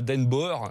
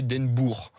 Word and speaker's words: Den Boer: Foot et le O-E, c'est, vous vous souvenez Den Boer qui a joué au Girondins de Bordeaux. C'était pas Den Boer, c'était Den Boer.